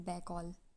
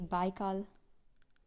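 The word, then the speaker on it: Baikal: Deepest lake है lake बैकॉल और lake बाइकाल, जैसे भी आप प्रोनाउंस करना चाहें।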